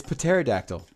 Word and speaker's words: pterodactyl: It's pterodactyl. The P is silent.